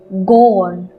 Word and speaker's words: grand: Tall or big in French we say as grand, G-R-A-N-D, grand. Friends, in this letter D is silent. That's why we call it grand.